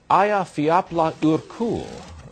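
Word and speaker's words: Eyjafjallajökull: The volcano, Aya Fiapla Urkul, as I'm told it is pronounced, has been spewing out more toxic pollutants than all human activity since the beginning of time.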